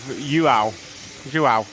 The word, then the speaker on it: João: I've been given a well done on my pronouncer of João. It's J-U-A-U is the phonetic spelling, Matt.